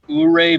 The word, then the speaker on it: Ouray: in Colorado at this place called Ouray Brewery, spelled O-U-R-A-Y. That's how you pronounce it.